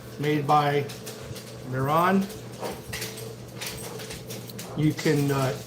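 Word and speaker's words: Mehron: This is called Clown White, and it's made by Miron. You can, it's spelled M-E-H-R-O-N.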